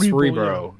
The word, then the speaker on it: Cerebro: That's how you say it, Cerebro.